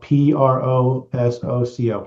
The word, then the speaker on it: Prosoco: There's more technical terms with it, but the waterproofing product we use is called Prosoco, and it's spelled Prosoco, almost like Prosecco.